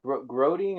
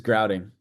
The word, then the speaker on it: grouting: So how do you say groating or grouting? Oh yeah, it's grouting.